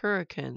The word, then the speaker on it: Hurricane: hurricane we just spelled like hurricane but it's pronounced hurricane if you're from the area and that's where